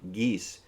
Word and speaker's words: Gise: His name is none other than Lawrence Preston Geese. That's spelled Gise.